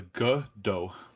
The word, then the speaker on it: Godot: so it's it's yeah it's like soft g the g dough okay let's do it